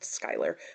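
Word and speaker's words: Schuyler: February and that was black Empire by George Skyler yes I also learned that his last name is pronounced Skyler which always confuses me cuz in English I feel like it should be schoer but it's not that's not the point anyway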